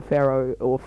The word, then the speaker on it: Pharo: I'm going to call it the Pharo, by the way, guys, just because that's the thing, that's how it's pronounced.